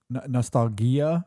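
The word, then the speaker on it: Nostalghia: him but the autobiographical part of uh no Nostalgia I guess is how you say that yep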